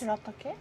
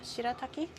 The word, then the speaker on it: shirataki: What's shiataki? Shiataki. Like you know the kanyaku noodles. Shiataki. Is that how you say it? Shirataki.